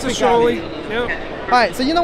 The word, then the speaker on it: shoALIE: Yeah, it's a shoALIE.